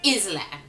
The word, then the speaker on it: island: without even thinking going the word is Island and I remember thinking oh I didn't think you guys were stupid until now um but you know um but I fought back going no the s is actually silent and I was trying